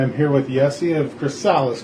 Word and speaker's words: Chrysalis: I am here with Yessi of Chrysalis, correct? Is that the proper way to say it? That's how everybody else says it, but I think the proper pronunciation is Chrysalis. Chrysalis, okay, right on.